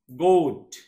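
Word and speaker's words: goat: coach শিক্ষা দেওয়া শিখানো গোট গোট এতো গড কয় অনেকে গড তো উচ্চারণ ভুল তাহলে আমরা জি ও এ টি তাহলে ও জি ও এই মাঝখানে ও আর এ আছে তার মানে কি ও এর মত উচ্চারণ করলো গোট ছাগল ঠোস্ট ও এ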